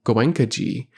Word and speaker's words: Goenkaji: They referred to Goenkaji with a special emphasis on the last syllable, a Hindu honorific that contained a strange mixture of reverence, possessiveness, and familiarity.